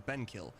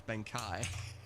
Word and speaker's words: Ben Kai: I've been calling you Benkill. Your name's Ben Kai.